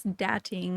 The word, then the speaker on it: Datting_: Dating.